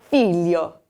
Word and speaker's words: figlio: And the next word here, we have that GL combination, and it does have that y sound from the back of your throat. So instead of saying figlio, figlio, from the tip of your tongue, you're going to say figlio, figlio.